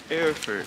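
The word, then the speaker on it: Erfurt: you say it Barefoot effort effort like Frankfurt but airford air fart since the bell's not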